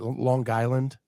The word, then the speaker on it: Long Island: from long and and it's more a hard G right Long Island yeah uh so my